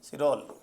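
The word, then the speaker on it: Chirol: तो वैलेंटाइन शिरोल, कई जगह चिरोल लिखा हुआ है, प्रोनाउंसिएशन अपना अपना है, कोई दिक्कत नहीं है।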